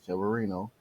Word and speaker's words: Severino: Lewis Reno Severino that's how to say it Severino uh is on the Mind against colon rear